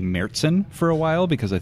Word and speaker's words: Märzen: I would say Märzen.